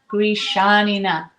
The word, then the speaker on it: Grishanina: And I'm Gishanina.